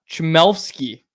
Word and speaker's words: Chmelevski: Chmelevski is how it's pronounced.